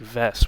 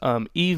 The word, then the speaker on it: Yves: I've been pronouncing it like Vess, which I believe that's how you pronounce it. Vess Pawn's name. So, that's a mistake on my part. I apologize. Yves Missi at 21, I give an A to.